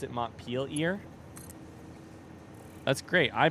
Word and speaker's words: Montpelier: Well, you pronounce it French, so do with that what you will.